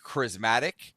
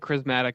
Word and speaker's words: charismatic: I've never heard anybody pronounce it charismatic before. I just want you to know that. Charismatic. Charismatic. However you want to say it. You put the emphasis on the wrong syllable.